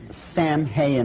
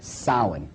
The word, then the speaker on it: Samhain: look at the name it looks as if it's saying Samhain or something like that no no no no this is properly pronounced and the ancient Gaelic as sowon sowon according to a cult